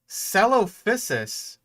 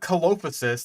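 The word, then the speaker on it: Coelophysis: Celophysis? You even got it with the proper, like, soft C pronunciation. Because it's not Colophysis, like I've heard some people try to pronounce it.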